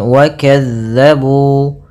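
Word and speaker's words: وَكَذَّبُوا: Pada bacaan wa kazzabu, hati-hati dalam melafalkan huruf zal yang dimana zal ini pelafalannya dari ujung lidah kita menempel dengan gigi sari atas kita.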